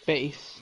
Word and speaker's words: Bass: Base.